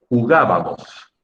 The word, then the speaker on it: jugábamos: La primera sílaba sería mos, si cuentas de derecha a izquierda. La segunda sería va. La tercera, ga, es la que lleva tilde. Por ende, es esdrújula.